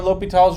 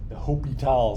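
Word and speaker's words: L'Hôpital: Write a little H on the equal sign to remind yourself this is the L'Hopital step. The H is silent.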